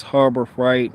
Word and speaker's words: Harbor Freight: that guy but it's harbor fright not harbor that harbor fright oh i'm not saying freight oh goodness it's harbor fright so i say pronounce freight harbor fright all right i'm from